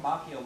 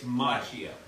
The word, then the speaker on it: Macchio: You showed me a video of Ralph Macchio like it's going to have It's this effect on Macchio. me It's and my Macchio. confidence. It's Macchio.